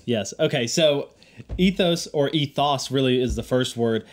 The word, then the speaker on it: ethos: word everyone pronounces it ethos because it has an O in it but really that sound in the Greek is really more of an AA kind of like low a lot of people